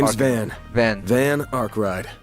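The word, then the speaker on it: Van Arkride: name is Van van van arride van arride okay that's how you pronounce it van don't got a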